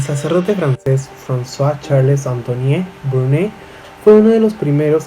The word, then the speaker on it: Brune: Cuando Brun le preguntó, creo que lo estaba pronunciando mal, es Brun, no, es Brune no es Brun.